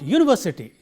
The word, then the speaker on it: university: the suffix, and therefore, the syllable immediately preceding it is ver, and therefore, we say university. The highlighting is on this syllable. University, I study in a university. It is not university, it is not university, but it is university. This ver has to be highlighted.